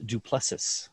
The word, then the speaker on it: Du Plessis: with Duplessis. Is that the correct pronunciation?